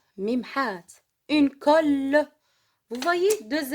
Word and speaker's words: colle: Une colle. Une colle. غراء. باللغة العربية هو غراء. الكول. غراء باللغة العربية نقول غراء. لكن elle se prononce une colle. Je répète. Un livre. كتاب. Une gomme. ممحات. Une colle.